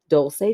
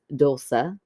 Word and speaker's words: Dulce: And my name is pronounced Dulce technically. In Spanish is Dulce. Okay. Okay. That's the best way I can phonetically spell it out in Spanish, but all my friends pronounce it the first way.